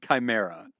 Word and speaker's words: chimera: It's pronounced chimera.